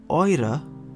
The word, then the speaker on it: eure: So it is pronounced eure and not euer.